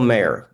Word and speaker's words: Maher: Bill Maher. Maher. Not everybody knows him. Bill Maher. What? It's Bill Maher, M-A-H-E-R. Yeah. M-A-H-E-R, right. Then. Bill Maher? Yes. Like it sounds like mayor, like with a Y.